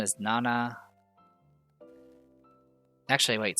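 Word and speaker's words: 七: In most cases, when you're using 7, you usually use the Konyomi pronunciation because Shichi has some associations, I believe, with death or something, so you usually don't want to create confusion.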